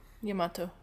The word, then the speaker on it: Yamato: Dante sensed in Nero the same connection to Sparta's power, and so entrusted Yamato to the youth before leaving Fortuna.